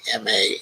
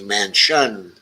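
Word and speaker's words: Manchin: spelling on that k m-a-n-c-h-i-n it's like not like uh actually mansion it's spelled like it's man chin steve ganzo says yep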